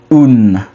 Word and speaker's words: un: a bit different which in French you say un but in French it is uh which is